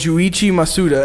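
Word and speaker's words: Junichi Masuda: that was actually created by this guy named Joe Ichi Masuda and I know that's how you pronounce it I know that's right that works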